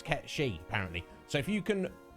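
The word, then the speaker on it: Cait Sith: in other things uh kate sith now metapod pointed out to me that the actual pronunciation that is kept she reason being it's like gaelic or old like irish words or something and that's the actual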